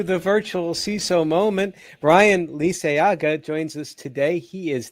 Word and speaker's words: Liceaga: Brian Lisayaga joins us today.